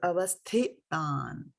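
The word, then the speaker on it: अवस्थितान्: So avasthitān and not avasthitān, right? So make that distinction here. avasthitān. So there is the sa, there is a tha, and there is a ta here, right? So avasthitān, sthit, as we say the word sthit, right?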